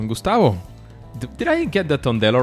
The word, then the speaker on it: Tondello: have Gustavo tondello Gustavo did I get the tondello right is that the right pronunciation yes that's right perfect are you prepared